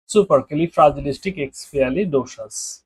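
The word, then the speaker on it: supercalifragilisticexpialidocious: এক্স পি আলি ডোসাস এবার দেখেন যেটা দাঁড়াচ্ছে সুপারকে ফ্রাজিলিস্টিক এক্সপি আলি ডোসাস এটার উচ্চারণ হচ্ছে এইটা এখন এত বড় শব্দ এটা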